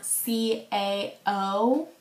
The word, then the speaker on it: CAO: a o moon trance i know how to pronounce it i know it's cao the only reason why i called it ko before is because somebody very prestigious in the youtube community told me that and so i didn't